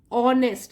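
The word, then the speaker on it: honest: धोखेबाजी से मुक्त है ऑनेस्ट अब देखिए यहां पर भी एक साइलेंट है यह आप ध्यान रखिए और शेयर्स एंजर्स डेट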